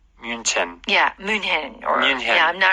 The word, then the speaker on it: München: So my surprise when I went to Munich was that in Germany it was München. Yeah. But Americans say Munich.